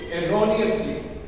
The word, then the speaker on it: erroneously: सो the word is pronunciation of this word is एरोनियसली, error, एरोनियसली।